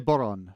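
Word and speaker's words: bodhrán: is an irish drum it's called a boron spelled b-o-d-h-r-a-n and it's spelled that way because in ireland they're very jealous of the welsh who get to add l sort of willy-nilly to everything so um the boron is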